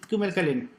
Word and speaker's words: kümelkalen: ¿Qué ocurre ahí con esas cremillas de ahí de la U? Esa normalmente es la forma que se pronuncia esa. Kumelkalen. Q. Claro. Q. Kumelkalen. Que es la sexta vocal.